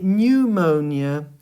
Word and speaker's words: pneumonia: So with pneumonia, you don't pronounce the P, but you just start with the N and you say pneumonia.